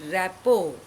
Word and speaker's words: rapport: I have chosen this because it is written rapport but pronounced rapport.